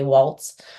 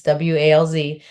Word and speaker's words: Walz: A lot of people say Waltz, or like spell it like Wall, but it's not. Walz, and it's Walz Performance Horses.